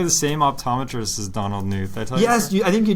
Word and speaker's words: Knuth: of my eyes so I actually think it's knuth as well that's what uh the pronunciation key says but uh have you